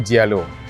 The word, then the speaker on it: Giallo: Dia panggil, okay, dalam Italian pronunciation, kalau English dia panggil yellow, dalam Itali dia panggil Giallo. Jadi untuk SF90 ni umumnya yellow, tapi sebenarnya dia adalah Giallo Triplo Strata.